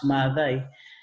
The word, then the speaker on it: Mathai: more phonetically, and so in Kikuyu the pronunciation is a little bit stretched out, Mathai, so the A is, she just wanted to differentiate her name from my dad's name.